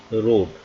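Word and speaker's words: read: प्रयोग किया गया है लेकिन इसको पढ़ेंगे रेड क्योंकि रीड का जो हमारा first second third form same होती है रीड रेड रेड तो यहां पर थर्ड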